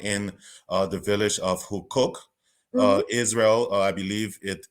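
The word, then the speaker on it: Huqoq: you're carrying out in uh the village of who cook uh Israel I believe it is an ancient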